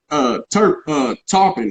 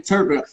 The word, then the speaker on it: Turpin: He would tell me about Ray Robinson going to France and learn and losing to Tarpon. How you say his name? Turpin.